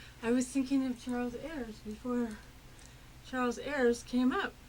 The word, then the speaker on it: Ayers: Now I say your last name Ayers, right? Ears. Rhymes with pears.